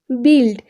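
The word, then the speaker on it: build: সো the next rule number 9, UI plus consonant এরপর vowel না থাকলে ইউএ এর উচ্চারণ হোসে এর মতো হয়। যেমন এক্সাম্পল, গিলটি অ্যান্ড বিল্ড।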